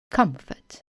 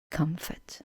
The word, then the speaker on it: comfort: Now let's put F-O-R-T in an unstressed syllable, for example in the word comfort. So fort, but comfort.